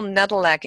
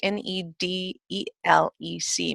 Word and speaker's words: Nedelec: you can see my name, which is Nedelec, Nedelec. is. Last name Nedelec. And people ask me, how do you pronounce it?